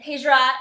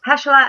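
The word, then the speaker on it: Pechalat: Am I pronouncing this right? This was Dave's whole thing. He was doing phonics with me yesterday. Did I pronounce their names right? You're pretty close. Peshla and Borza. Peshla and Borza.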